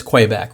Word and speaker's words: Kwaiback: calling it something else uh i was probably mispronouncing it but it's quay back right it's a it's a it's a quaking